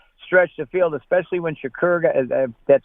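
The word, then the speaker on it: Shakir: number two that stretched the field especially when Shakur that's how his name's pronounced got hurt uh basically they just they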